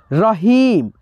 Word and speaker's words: रहीम: लिखा है यहां पे रहीम रहीम यानी ह में जो बड़ी ई की मात्रा है इसका उच्चारण धीरा नहीं है दोस्तों खींच करके है इसीलिए दोस्तों यहां पे